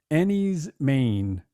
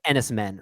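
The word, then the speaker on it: Enys Men: It's great for me, where it's pronounced Ennie's Maine. Yeah. It's not spelled that way, but that is how it's pronounced. Yeah, apparently. You might think it's pronounced like Ennis Men or something like that.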